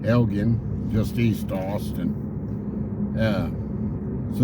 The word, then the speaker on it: Elgin: to Elgen this morning a lot of people pronounce that town Elgin but actually the people that live there it's Elgin gin Elgen just East Austin uh